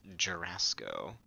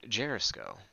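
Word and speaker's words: Jorasco: Alright, we're gonna come to the teleporter here, and we're gonna go to House Jurasco. Or as I sometimes jokingly pronounce it, Jerisco. Like Jericho.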